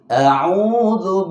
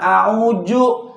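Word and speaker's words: أعوذ: Karena pada kalimat a'udzu, dzadzizu itu harus dilatih. Jangan a'uju.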